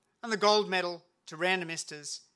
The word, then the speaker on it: Randomistas: it's no coincidence that random esters rhymes with sand and esters and as a famous